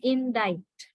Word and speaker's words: indict: right and the next word is indict we pronounce the word as indict so what is the final sound that is